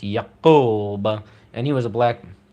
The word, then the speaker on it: Yakub: And this all ties into a Nation of Islam story that there was this mad scientist named Yaqub, spelled Yakob, sometimes Yakub, pronounced Yaqub, and he was a